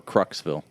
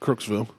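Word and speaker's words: Crooksville: Or Kruxville. Nope. Krooksville. That's how they pronounce it, so I'm going to go with it.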